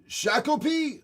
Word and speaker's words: Shakopee: I worry about my brother who lives in Shakopee, though. Is that how you pronounce it?